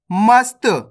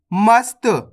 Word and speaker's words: मस्त: अब चलिए आगे देखिए मस्त कैसे पढ़ेंगे अपन इसको मस्त मसत नहीं पढ़ना मस्त कब्ज कैसे पढ़ेंगे